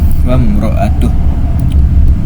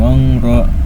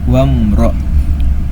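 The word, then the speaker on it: وامرأته: Cara bacanya dibaca dengan jelas. Mimnya dibaca jelas. Mim sukunnya dibaca dengan jelas sesuai dengan makhraj atau keluar huruf mim tersebut. Wamro. Jangan ditahan, jangan wangro, jangan harus wamro.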